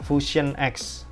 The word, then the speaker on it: Fusion X: yang selanjutnya ini ada fashion X fusion X bacanya fusion ya fusion X ini harganya